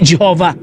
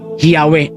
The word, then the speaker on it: Yahweh: So dito tayo sa ebidensya, itong Encyclopedia Judaica na nagsasabi na hindi Jehovah ang correct pronunciation ng YHWH, kundi yung correct pronunciation ay yung Yahweh at hindi Jehovah.